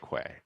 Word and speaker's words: Quay: I'll say the proper pronunciation is key, but the company and product is pronounced Quay. Right. So like I have a lot of keys. I don't have a lot of Quays, right?